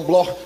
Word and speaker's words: Bloch: Se escreve Bloch, mas se pronuncia no alemão Bloch, judeus alemães.